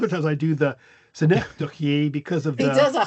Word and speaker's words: synecdoche: Synecdoche. Is that right? Hey, there you go. You Correct. did it. Synecdoche.